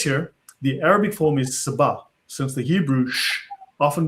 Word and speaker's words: Saba: Now, he says here for instance down below that in Arabic this is Saba. Right? Because the sh in the in the in the Jewish pronunciation becomes s in the Arabic pronunciation.